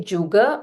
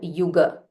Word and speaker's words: Yuga: You can either say Juga or Yuga.